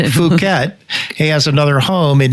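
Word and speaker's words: Phuket: It's Fuket. Fuket. It's f Don't say that cuz I have to I have to bleep you out if you say that. It's fuket.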